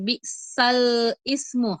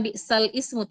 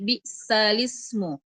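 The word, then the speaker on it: بئس الاسم: surah Al-Hujurat ayat 11, yaitu memindahkan ee harakat pada ee Hamzah ke huruf sebelumnya. Contohnya ketika bacaan bisal ismu. Harusnya bacaannya bisal ismu ya. Tapi ee harakat pada hamzah dipindahkan ke lam di depannya sehingga dibaca bisalismu. Jadi bukan balsal ismu tapi balismu. Bisalmul fusuqu ba'dal iman.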